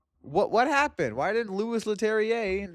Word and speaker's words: Leterrier: Leterrier. Pronunciation.